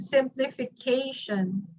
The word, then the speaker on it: simplification: Let's count the word simplification. Fourth, correct, because this is the first syllable, second syllable, third syllable, fourth syllable, this one, and then you have your last syllable over here.